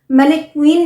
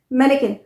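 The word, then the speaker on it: mannequin: मैनेक्वीन नहीं, मैनेकिन। स्पेलिंग जो है उसे आप प्रोनाउंस करेंगे मैनेकिन।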